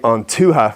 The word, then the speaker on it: An Tuath: Now basically onuha which is spelled antuha o n t h o o h a is basically an old Irish word for the tribes.